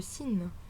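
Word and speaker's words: سين: La lettre suivante est le sin. Donc vous avez en exemple français les mots salon ou salade. Donc c'est exactement le même type de prononciation.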